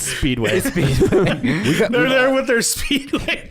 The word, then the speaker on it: Speedway: Like we said Speedies, we said it wrong. It's Speedway.